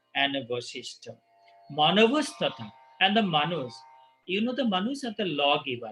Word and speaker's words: Manu: Manavastata, and the Manus. The Manus are the lawgiver. We pronounce Manu.